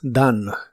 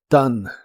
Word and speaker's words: done: En el pasado participo, es done. La o se pronuncia como a y la e del final es muda. Done. Done.